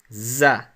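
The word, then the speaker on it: ظَ: It's a dash that we write above the letter, and we pronounce it za, like that.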